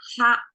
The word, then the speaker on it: 哈: Okay, ha is as you can see in English, in Chinese, we pronounce as ha.